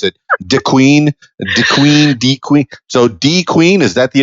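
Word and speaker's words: De Queen: DeQueen. So DeQueen, is that the official pronunciation? It is DeQueen, and it is where the Queen has lived for the past 15 years.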